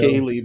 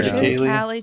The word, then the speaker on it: triticale: triticale before? I haven't. I've always heard it Many said years ago. triticale, but that doesn't mean that it's right. Yeah. Triticale. Triticale. It's Latin. The language is dead.